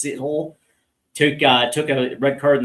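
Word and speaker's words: Sithole: And it looks like Yaya Shithole, Seathole. It's funny. It looks like it's pronounced shithole, but I guess it's Seathole.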